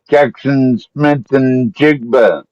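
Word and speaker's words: Jaxon Smith-Njigba: Jackson Smith and Jigba. That's how you pronounce it.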